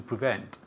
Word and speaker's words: prevent: to prevent, Okay, very good. Repeat. to prevent, Yes, to prevent. Prevent. And again, pay attention to the pronunciation. Prevent. The emphasis falls on the second syllable.